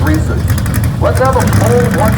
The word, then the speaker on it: Reese's: You say Reese's, I say Reese's. We talked about this. His name is Reese. Your opinion is wrong on the Reese's. That's pronounced Reese's.